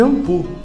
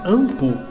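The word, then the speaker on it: Inpu: É escrito Impu, com W no final, mas o som é de Ampu, porque é um nome próprio do deus Anubis, que no passado egípcio se escrevia dessa forma, Impu, mas se pronuncia Ampu.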